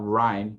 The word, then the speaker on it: rhyme: Então, a palavra rhyme, que é rima, era escrita assim. E repare que também assim faz muito mais sentido, né? Em relação ao som, né? Esse H mudo aqui, né?